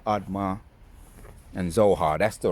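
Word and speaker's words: Admah: Let's go in and I remember the pronunciations of the Zebo, Admar, and Zo Zohoim. Zeboim, Admma, and Zohar.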